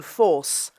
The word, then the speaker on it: foss: meets the Thames here, and foss is pronounced with the British long O, force.